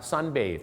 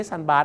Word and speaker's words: sunbathe: sunbed อ่า นะ ครับ sunbathe นะ ครับ sunbathe ก็ คือ อาบ แดด ครับ ไม่ ใช่ บาส นะ ครับ บาส มัน ตี